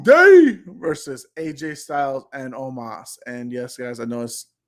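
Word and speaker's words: Omos: it's the new day versus aj styles and omas and yes guys i notice the way it's spelled out is almost but the pronunciation is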